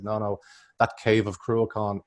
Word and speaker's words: Cruachan: So the pronunciation is Cruachan. No, it's a proper CH, Cruachan. It's a hard CH. Now, we've heard people mention, like when we go to Russia, people say Cruachan.